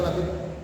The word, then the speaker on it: Labid: Di sini bacanya Lubayt atau Labid?